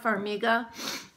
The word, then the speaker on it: Farmiga: I think it's called pronounced Formica or from Farmiga I'm sorry Vera Farmiga she played Lorraine so